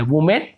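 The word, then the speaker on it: women: जब ई लगता है, वुमेन, जिसे हम विमेन कहते हैं, वुमेन नहीं कहें, विमेन।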